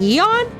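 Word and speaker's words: Aeon: It's pronounced eon. I would have thought it would have been a odd because you know the A.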